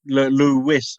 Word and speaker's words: Lewis: Lewis in Sussex. No, Lewis, not ESIS, in the Outer Hebrides. Oh, I'm sorry. Yeah, no, it's pronounced the same.